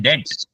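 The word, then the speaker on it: debt: उदार को बोलते हैं डेट लेकिन स्पेलिंग डीई बी टी है पढ़ते हैं हम उसको डेट बी बी जो है व साइलेंट है डेट का मतलब है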